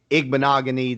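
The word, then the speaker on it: Igbinoghene: There's some of them like Owegbunam and Igbenogany that I knew, or Okuibunam, I beg your pardon, and Igbenogany that I know for a fact that's how it's pronounced.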